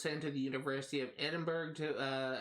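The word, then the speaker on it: Edinburgh: to the University of Edinburg to uh I think it's actually pronounced edenboro I think uh to join the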